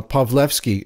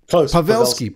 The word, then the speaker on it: Pawelski: say you know Cheryl uh pavlovski am I pronouncing your last name correctly pavelski Pavel and I'm and I am Polish so I should really come on you know better I should have done that correctly but she is the